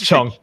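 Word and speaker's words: Cheong: Is it Chung or Chung? It's Chung. I just say Chung, yeah. Yeah, Chung's fine, yeah. That's okay. That's a proper pronunciation, yeah.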